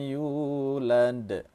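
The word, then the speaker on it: يُولَدْ: Walam yulad, jangan seperti itu tapi cukup satu alif atau dua harakat saja.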